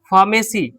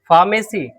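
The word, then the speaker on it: pharmacy: वैज्ञानिक नाम है photo phone phobia फार्मेसी फार्मेसी फ पढ़ते हैं फार्मेसी ठीक है आपके लिए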